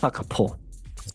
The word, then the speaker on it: Gakpo: And Gakpo started well this season. It's pronounced Hakapo.